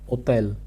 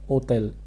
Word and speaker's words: hôtel: First example is hôtel. How do we pronounce it? Hôtel. H in French is generally silent.